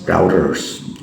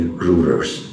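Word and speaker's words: Reuters: If you see the international media for example Wall Street channels and I think it's routers or rouers or rulers uei is pronounced as u so I would say routers but people also say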